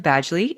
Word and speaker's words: Badgley: did have to Google the pronunciation of Badgley and it is in fact Badgley like a badge boom he also plays